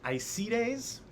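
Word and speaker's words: Aeacides: in epirus to uh it's a tricky pronunciation I see days it's a e a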